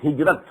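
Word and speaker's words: هجرت: Hijra, which we in Urdu pronounce hijrat.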